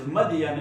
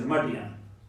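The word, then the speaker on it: Madyan: Professor, in Testament, that is Midian, M-I-D-I-A-N. Yes. But in Quran, that is Madian, M-A-D-Y-A-N. Got it? Pronunciation in different languages is different. So there is Midian, here is Madian.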